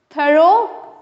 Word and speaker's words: thorough: What is इट, अल्दो, इट्स दो, UGH इज not pronounced, UGH is not pronounced, true, UGH is not pronounced, thorough, UGH is not pronounced.